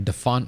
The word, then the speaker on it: dafont: lihat-lihat di dafont ya bacanya Apakah Def font atau apa ya dafont tulisannya d a f o n t dah font ya itu eh banyak Fonts